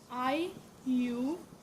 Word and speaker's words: IUPAC: तो IUPAC, इसको हम जो है प्रोनाउंस करते हैं IUPAC।